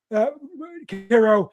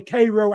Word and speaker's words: Cairo: enough that Mo Train even wor about uh Caro in Huck Finn and the Adventures of Huck Finn.